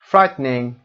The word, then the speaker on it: frightening: frightening این ای دیگه تلفظ نمیشه.